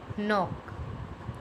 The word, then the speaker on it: knock: When K and come together, it make a sound of N. It means K is silent. Let's see some example. Knob, knee, knife, knot, night, neat, knock, knuckle.